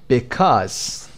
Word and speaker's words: because: Number one, because. کدوم قسمت رو بلندتر میشنوید؟ Because. قسمت cause.